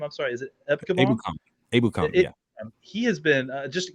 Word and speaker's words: Ebukam: Ebukam, yeah.